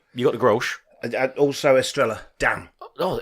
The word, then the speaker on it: Estrella: How do you say it properly? Estrella. Australia. Yeah. Like Mallorca. Double L is a Y in Spanish.